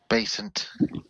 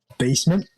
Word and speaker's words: Basant: need you to be basant. Yeah, we need you to calm down. Basant. Yes, and... Yeah. Basement? Yes, get back in the basement. Oh, God, no. No, basant. Based, and then NT. Basant. Okay, I'm gonna try and